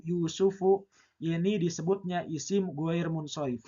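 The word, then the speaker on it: يوسفُ: contohnya apa contohnya nya Yusuf. Nabi Yusuf ya. Yusuf itu bukan berasal dari bahasa Arab. Makanya kategorinya adalah isim munsarif. Dibacanya yusuf tidak boleh yusufun. Nah, ini adalah contoh-contoh sederhana dari isim girer Munsori.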